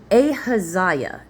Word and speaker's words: Ahaziah: Ahab rested with his fathers, and Ahaz, is how I say it, Ahazih, Ahijah? Okay, I took a quick break to make sure I could look it up. Ahaziah is how you say that.